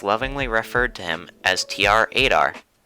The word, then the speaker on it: TR-8R: referred to him as tr-8r which phonetically in case you couldn't tell sounds like traitor when said out loud well there you go